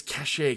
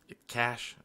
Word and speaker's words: cache: those don't i mean it's cachet kenius it's cachet okay cash whatever the concept behind cash